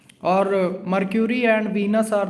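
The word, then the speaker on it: Mercury: मर्क्यूरी को ज़्यादातर लोग मरकरी भी प्रोनाउंस कर देते हैं, बट एक्चुअल प्रोनाउंसिएशन जो है इसका मर्क्यूरी है।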